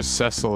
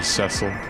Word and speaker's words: Cecil: Like, I'm pretty sure Cecil is the correct way to say it.